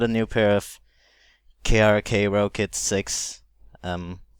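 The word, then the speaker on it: Rokit: new pair of krk Rocket 6 um rocket 6 actually they're pronounced like that and um uh when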